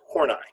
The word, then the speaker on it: Horney: about object relations theory Karen horn I now that's who and I there's another way to pronounce that and that way is wrong and people will look at you funny alright Karen horney born